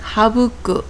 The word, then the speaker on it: 省く: 훈독은 하부쿠 또는 가에리미르라고 읽습니다. 구가 나올 경우는 하부쿠라고 해서 생략하다, 간단히 하다 라는 뜻이 되고요.